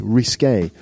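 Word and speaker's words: risqué: good word and it it's like risky but sort of like pronounced as in the French way risque so slightly indecent like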